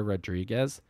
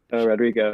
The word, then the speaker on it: Rodrigo: totally be an old man and get her name wrong but I think I think her name's Olivia Rodriguez Rodrigo yeah Rodrigo okay um yeah so I I